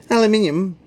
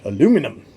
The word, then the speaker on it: aluminium: isotopes have 13 neutrons aluminium atoms have 13 electrons two electrons americans spell it without the second eye and call it aluminum two electrons in the